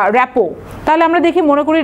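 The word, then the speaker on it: rapport: পরের প্রশ্ন চলে যায় র্যাপো, এরপরে এটার কিন্তু উচ্চারণ হচ্ছে র্যাপো, ইটস এ ফ্রেঞ্চ ওয়ার্ড, এটা একটা ফ্রেঞ্চ ওয়ার্ড, এ কারণে পরের টিটা কিন্তু উজ্জ্বল থাকবে, এটা হচ্ছে প্রোনাউন্সিয়েশন হচ্ছে র্যাপো।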